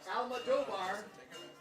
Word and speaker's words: Almodovar: Almodovar. Oh, just like it sounds, Almodovar.